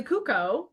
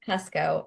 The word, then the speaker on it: Kucko: guest today um cucko I'm saying your name right last name right correct it's pronounced Cusco actually gosh Cusco I should have